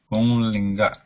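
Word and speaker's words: पुंलिङ्ग: So how is the anuswara pronounced? Pung, like pung, punglinga.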